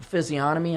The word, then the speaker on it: physiognomy: You ever look at these people on their face, like on that big physiognomy? I think that's the way you pronounce it. Physiognomy is real.